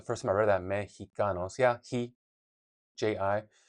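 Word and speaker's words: México: Mexicos. Yeah. He ji. But in Mexico, the X makes a he sound as well, right? Because it's spelled MX mex.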